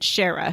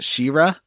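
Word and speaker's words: Shera: Oh, and it's his assistant, Shara, who is telling you this. I believe it's pronounced Shira.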